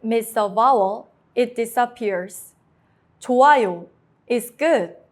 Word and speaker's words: 좋아요: 좋아요 is good. The hyut is silent before a vowel.